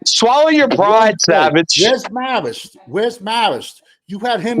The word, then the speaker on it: Marist: up high schools with the same name it's pronounced Marist I bet you pronounce it Mario instead of